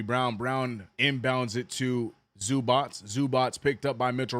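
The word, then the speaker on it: Zubac: That's such, the way his name is pronounced, and it's none of any of that, Ivica Zubats, none of that is in the spelling of his name, bro.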